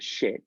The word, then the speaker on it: Schitt's: Shit or ships? Schitt's Creek. SHIT. SCHITTS Creek. Oh, but they actually say it like shit.